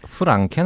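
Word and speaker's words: Frankenstein: 프랑켄 아닙니까? 프랑켄. 남들은 다 프랑켄이라고 발음하는. 프랑켄슈타인. 네.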